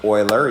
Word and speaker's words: Euler: it's named after a famous mathematician and it's pronounced euler even though it looks like euler okay and